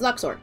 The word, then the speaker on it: lux: read his Lux and I know like some people who speak Latin go oh it's pronounced Loops but those are other